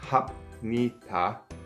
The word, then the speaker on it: 합니다: Now to me, it sounds like you're saying 합니다. The reason it sounds like a yum at the end of hab is that when you immediately end with a pyup and then begin with a nyun, because that pyup is shortened, it just immediately flows into the ni. So you are in fact saying 합니다, but because you say it so quickly, it turns into 합니다, 합니다, 합니다, 합니다.